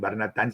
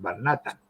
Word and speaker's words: Barnatán: ganó el acento, porque al llegar a la Argentina había que ponernos el acento en Barnatán, si no seríamos Barnatan, al leerlo, ¿no?